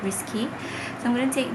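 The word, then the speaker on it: Risqué: how to pronounce this it's spelled r-i-s-q-u-e without the coma on top so i think it's risk instead of risky so i'm going to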